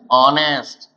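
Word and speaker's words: honest: ऑनेस्ट। या फिर देखिए बेटा आपका क्या है? ईयर। इसमें जब भी हम प्रोनाउंसिएशन करते हैं, चाहे वो ऑनर हो, चाहे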